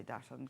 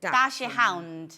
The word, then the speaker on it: dachshund: I can't say dash hunt because I don't know how you say it. Is it dash hunt or is it dash Hound. Dash hound. But short form, Dachshund, people say.